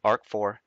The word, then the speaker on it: RC4: key encryption ciphers are rc4 pronounced arc4 des for data encryption